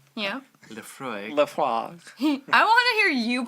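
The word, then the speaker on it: Laphroaig: Lafroig. Lefroig. Yeah. Lefroig. Le Frog. I want to hear you pronounce all of these the way you think they should be pronounced.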